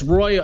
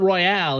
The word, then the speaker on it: Royole: It's Royole. It's not Royale. It's Royole.